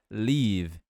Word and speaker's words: leave: Então, sair é leave. Leave. Esse EA fica com som de I. Leave. Leave. Não é falado no final, tá bom?